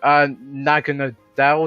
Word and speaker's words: Naganadel: It's just Alolan Ninetales with Aurora Veil just makes because the main issue with Naganadel, is that how you say it?